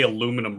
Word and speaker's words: aluminium: You can't trust any pronunciation from a Brit. They can't even say aluminum right. Get out of here. Oh, you mean aluminium?